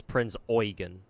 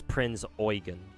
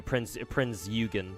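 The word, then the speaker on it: Prinz Eugen: Yeah, apparently the the proper pronunciation of that of Prince's name is Prince Oyen. The EU is supposed to be pronounced oi. So you sound you make you you say it as Prince Oen, but if you say it fast, obviously it comes out as Prince.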